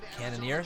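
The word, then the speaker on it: Cannonier: night but here we go hello guerilla Jared cannoneer so that's how you pronounce his name can a caramel latte we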